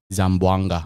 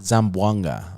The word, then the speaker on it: Zamboanga: said you were born in how do you pronounce it again zamboanga zamboanga okay so when you were born in zamboanga